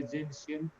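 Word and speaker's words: gentian: proflavine, then जेंशियन violet, जेंशियन इसका pronunciation होता है जेंशियन, टी है इसके स्पेलिंग में लेकिन टी साइलेंट है, जेंशियन वायलेट, ये सारे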